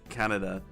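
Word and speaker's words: Kanada: And the funny thing is that's that is how you're supposed to pronounce in Japanese. Canada.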